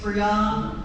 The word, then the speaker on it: Bree-Arne: I've been saying it wrong the whole time. So just clear, everybody, it's Bree-arne.